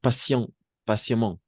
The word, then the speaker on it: patiemment: Et patiemment, patientemente, como passion, la T como C, la T, Ok.